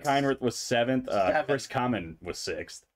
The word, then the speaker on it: Kamen: Chris Kamen was sixth. Yeah, or Kamen. Chris Kamen, like me. Yeah. I like that better. Better way to pronounce that name.